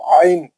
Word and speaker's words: ع: क्या लिखा हुआ है, this is pronounced from the middle of the throat. हलक के मरकजी हिस्से से पढ़े जाना वाला हर्फ आइन, आइन, आइन के बारे में बता रहा।